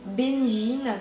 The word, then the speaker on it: Benjine: alors moi je m'appelle benjine qui s'écrit B e n avec un il y a beaucoup tout le monde l'écrit écrit mon prénom avec un J mais non pas du